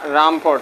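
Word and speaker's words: Rumford: রামফোর্ড রাদারফোর্ড count রামফোর্ড sorry উচ্চারণ ভুল করছো রামফোর্ড ঠিক আছে রামফোর্ড তাহলে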